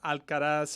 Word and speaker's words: Alcaraz: I always think it sounds too closely to Alcatraz.